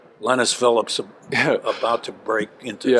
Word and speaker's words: Linas: Okay, just want to make sure I'm pronouncing it right. Linas Phillips, about to break into stardom.